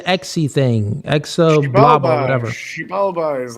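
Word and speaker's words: Xibalba: How do we pronounce the exy thing? Exa blah. Whatever. Shealba is like the uh the underworld for me. Wait, what is it? Shealba.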